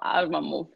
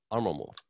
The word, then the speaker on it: Arłamów: Event manager with Hotel Arlamov. I didn't yeah, say no, it right. It's okay. Go ahead. How do you pronounce it? Hotel Arłamów. Arłamów.